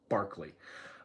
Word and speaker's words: Berkeley: was actually named after Berkeley, swear to God, but they just pronounce it wrong. So if you're ever trying to spell George Berkeley's name, spell it like Berkeley, California, but pronounce it correctly, Berkeley.